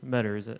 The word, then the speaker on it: Meador: alright we're sitting here with the meadors that's probably pronounced accurate yep okay you just released an album called second